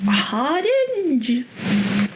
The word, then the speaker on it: Hardinge: And I'm probably going to mispronounce this author's name. I think it is Francis Harding.